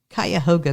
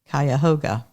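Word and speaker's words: Cuyahoga: Park to the southeast kayoga means Crooked River in the shauni language whether or not it's actually pronounced this way we say kayoga in 1987 John was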